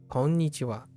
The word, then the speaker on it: こんにちは: Watch out for the ha, but wa at the end, which is always pronounced. Konnichiwa.